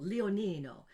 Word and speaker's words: Leonino: almost years ago, um my last name is beautiful, Leonino. Little lion, Leo Nino, but I didn't want to change it because it was so musical. Leonino and Greg Mine and